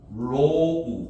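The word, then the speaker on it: ρ: 이거를 로라고 읽어. 로우 이렇게. 이렇게 읽어.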